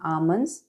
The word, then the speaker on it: almond: usually soak Raisins and Almonds which is kishmish and badam for badam we call it as almonds the L is silent almond I put my